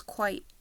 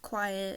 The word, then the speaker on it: Qyt: So, my character's name is Quite. Not Quiet, not Cutie or anything.